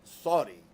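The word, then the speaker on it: Suddi: 3 meet sui and it's actually pronounced more like Saudi I was keeping fairly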